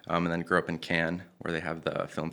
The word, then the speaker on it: Cannes: In French, it's Cannes.